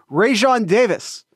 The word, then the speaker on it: Raesjon: It's a J, Jared. You should understand how to pronounce it. Raesjon Davis.